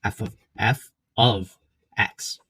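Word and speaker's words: f(x): Okay, so the way you pronounce this is f of x.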